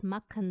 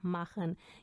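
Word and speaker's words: machen: तो कुछ ऐसे अगर आप बोलें वस मक्खन जी अम आबेंड या वस माशन जी अम आबेंड, तो वो गलत होगा। इसकी सही प्रोनाउंसिएशन ऐसे होगी माखन।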